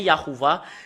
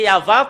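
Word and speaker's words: יהוה: où l'image, ça devient Yahuwah. C'est là que ça vient le nom Yahuwah. Les humains l'ont changé selon leur volonté. Normalement, c'est Yahva. Quand on le prononce, ça devient Yahuwah.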